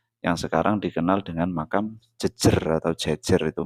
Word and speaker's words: Jejer: Pleret Bantul, Yogyakarta, yang sekarang dikenal dengan makam Jejer atau Jejer itu bacanya.